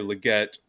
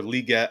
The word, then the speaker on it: Legette: trade uh drafted Xavier Legette uh or liette I believe is how it's pronounced both are they're capable